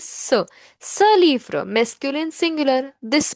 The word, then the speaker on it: ce: CE is pronounced as sir.